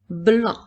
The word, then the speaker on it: blanc: cette fois-ci nous avons Blanc le Mont Blanc s'écrit B l A n qui font le son 1 avec la lettre C qui est une lettre muette en une fois la